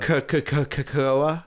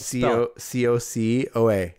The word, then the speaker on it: cocoa: Cacoa? Cacao. No, it's cacoa. What is it? How do you spell it? C-O-C-O-A.